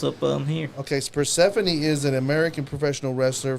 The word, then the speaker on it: Persephone: Persephone. Yep. That is how you Persephone.